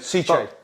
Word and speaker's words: cichlid: I've been saying it wrong all these years. So have I. They Italian, sent me it ages ago and they say, oh, you're pronouncing it wrong. It's Cichlid. Yeah.